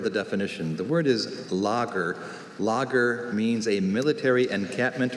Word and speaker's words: lager: Lager. Afrikaans is the biggest clue here. Lager. I'll give him that first syllable.